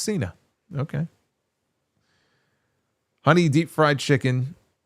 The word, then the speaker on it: Cena: Heels Cena looks like an angry postman. Thank you. Warm Corin Bass Beerus says you John Shaina, you have a big mouth.